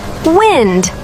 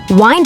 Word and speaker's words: wind: As a noun, the wind is very strong today. Short i, wind. The wind is blowing. As a verb plaid, please wind up the clock.